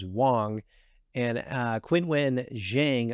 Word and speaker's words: Wang: in Wan China for Wang or actually the pr correct pronunciation is Wong and uh Quin win